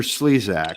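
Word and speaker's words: Slezak: who's a complete hack victor slesak rhymes with hack even wanting to know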